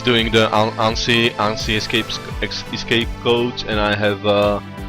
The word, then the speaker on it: ANSI: Is it the correct pronunciation? I mean, it's not correct, but is it close? I don't know. It's ANSI.